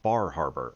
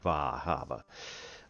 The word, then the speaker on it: Bar Harbor: in the real world called Bar Harbor or Bahava.